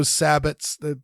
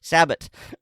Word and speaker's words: sabot: Prince French pronunciation the the proper French pronunciation is Sabo uh hence sabotage but yes if you want to americanize it because two world wars sabotage so sabbot uh yeah you can